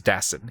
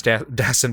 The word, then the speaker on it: Dassin: Jules the sound film I keep wanting to say his name as if he's French Jules dassin he's from Connecticut Jules Destin film from 1950 uh